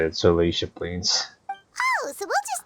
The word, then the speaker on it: Salacia: That's how you say it, Salacia Plains.